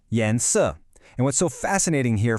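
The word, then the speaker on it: 颜色: The word for color is yens, pronounced yansu.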